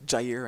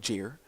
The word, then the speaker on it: Jair: very quickly to jair there is jair and not jeer Jaya jair McAllister yeah